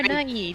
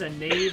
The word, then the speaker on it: naive: I mean, you really are naive, you know that? I mean, that is the truest statement of this entire game. It's pronounced a knave, actually. It doesn't have the, diaceres?